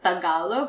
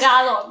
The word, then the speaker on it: Tagalog: That's why the word Tagalog. So a lot of people pronounce it as Tagalog. Right? Tagalog. Yes. Guys, watching you guys. Tagalog. Tagalog. Second syllable stress. Tagalog.